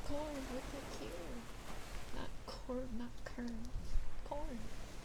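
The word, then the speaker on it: Quorn: Q U O R N. Like corn. It's corn.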